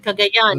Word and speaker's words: Cagayan: if I pronounce it wrong. Is Cagayan? Is it? Okay, Cagayan.